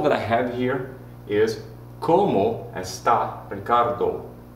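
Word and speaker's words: cómo: here is how well how in spanish is como look after me como c-o-m-o with the accent on the first o you have to make it last a little bit longer as you say it okay all right i have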